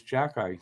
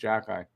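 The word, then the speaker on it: Xhekaj: That it was Jackeye. That's how it's pronounced. It's spelt with an X, but it's pronounced Jackeye.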